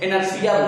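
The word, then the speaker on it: inertia: इसी को हम इंग्लिश में इनर्शिया बोलते हैं। जड़त्व को क्या कहते हैं? इनर्शिया। टी साइलेंट है यहाँ पर, इंटीरियर मत पढ़ लीजिएगा, इनर्शिया बोलते हैं।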